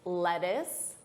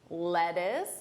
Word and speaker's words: lettuce: This is of course lettuce. Lettuce. Notice that unstressed pronunciation.